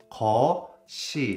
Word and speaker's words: 겉이: cookie all the time which means when you write down you're gonna write down 겉이 But when you pronounce, you're gonna pronounce 거시.